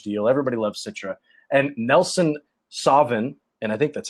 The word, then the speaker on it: Nelson Sauvin: And Nelson Sauvin, and I think that's how you say it. It's like Sauvignon, Nelson Sauvin, which is also out of, I believe that's New Zealand.